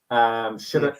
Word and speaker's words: Shattuck: I always get her name wrong, but I think she's called Shari Shattuck. Shattuck.